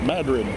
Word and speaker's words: Madrid: Or Madrid, you know, is it Madrid, Spain? Not here. It's Madrid.